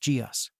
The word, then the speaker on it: Geus: It's pronounced Geus.